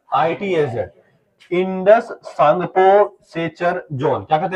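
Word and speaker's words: Tsangpo: अच्छा सांगपो जो है इसका स्पेलिंग होता है टी से। इसलिए कई बच्चा हिंदी में जब पढ़ता है तो गड़बड़ कर देता है। आई टी एस जेड। सांगपो इसको हिंदी में क्या लिख देंगे? सांगपो।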